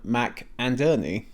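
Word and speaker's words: McInnerny: Then there's Lord Percy Percy played by Tim Mcernney. And if you're unsure about how to pronounce his name, just think of it of how Percy is played by Tim, Mack, and Ernie.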